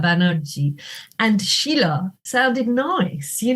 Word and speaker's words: Banerjee: differently I'm you know my name is pronounced in Bengali I'm in English I'm Sheila banagi in Bengali I was Sheila banerji and Sheila sounded nice